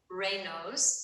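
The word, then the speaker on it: Raynaud's: know if anybody here has a condition called Ros and that's spelled r a y NAU D is in David apostrophe s people actually mispronounce that all the time but it's pronounced reos it's a a French uh scientist name who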